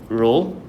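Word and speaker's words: rho: um over here you use the symbol called ro. Okay. So this is a Greek symbol. Um it's pronounced as ro h o.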